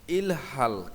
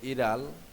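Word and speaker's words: 일할: ফাল্গুসিব ফালগুয়া 38 অধ্যায় ইলহাল কাজ করার কিন্তু এখানে উচ্চারণ হবে ইরাল জায়গায় গিয়ে পূর্বের রূপে উচ্চারিত হবে তাহলে সঠিক উচ্চারণ হবে ইড়াল কাজ করা মাঝি মজা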